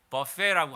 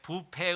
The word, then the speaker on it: 뷔페: 그래서 우리가 자유를 누리게 된 것, 우리가 남한 땅에서 이렇게 마음껏 예배드리고 즐겁게 살아가는 거, 이렇게 버페라고 하는데 뷔페 음식, 뷔페 이렇게 한국에선 발음하죠.